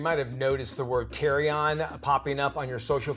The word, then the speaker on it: therian: You might have noticed the word THerian popping up on your social feeds. It's spelled, it looks like Therion, T-H-E-R-I-N, but it's pronounced THerian.